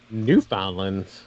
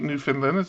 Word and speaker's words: Newfoundland: It's not Newfoundland. It's Newfoundland. It's pronounced Newfoundland. Is it? Yes. Newfoundland. That's what I said. We're stalking you now. You said you pronounced the D.